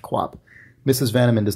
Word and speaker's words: QOP: So Alex writes, with no preamble, there is a lord in Dota 2 named Queen of Pain who is referred to as QOP, pronounced Quap.